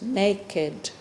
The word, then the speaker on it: naked: means without any clothes it has two syllables naked so we are all